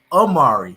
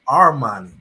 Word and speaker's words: Armani: armani wait a minute what'd you say his name is amari my name is armani yeah you missed me